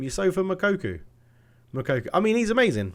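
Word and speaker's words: Youssoufa Moukoko: new one i was like that's how you pronounce his name you sofa makoku makoku i mean he's amazing right we'll swap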